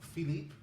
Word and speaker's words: Philippe: So Nora, what's in your all right, so after Ocean's 11, they go and try to groom Philippe. Is that how you pronounce it? Yeah. Philippe.